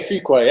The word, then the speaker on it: Fuquay: Yeah, Fuquay. That's it. That's how you pronounce it.